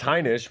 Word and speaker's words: Heinisch: It's Heinish, but Heish.